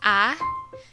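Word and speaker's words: ㅏ: with this particular vowel a is pronounced like the vowel in the english word father please take note that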